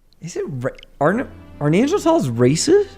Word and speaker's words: Neanderthal: I've heard that's we've been pronouncing it wrong. It's Neanderthal.